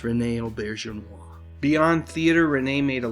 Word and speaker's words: Auberjonois: "People, you're gonna have to learn how to pronounce my name. It's Rene Auberjonois."